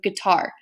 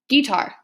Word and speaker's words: guitar: okay so guitar um if you reverse that and you do stressed unstressed for guitar it would sound like this guitar okay so you would stress that first syllable a lot more and then unstressed that last syllable and it just sounds unnatural okay another example behind